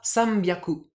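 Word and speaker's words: さんびゃく: milieu de tout ça par exemple 300 San plus shaku on va prononcer ça samambiaku 600 rokuaku on va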